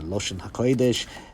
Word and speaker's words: Lashon HaKodesh: relevant to the topic, in a more Yiddish pronunciation, or at least maybe an Eastern Yiddish dialect, it's pronounced Ma'amar Lashon HaKodesh. And pronunciation, as I just alluded to, will have some relevance here. But however one pronounces it, whether you say Lashon HaKodesh or Loshn Koydesh, the title means treatise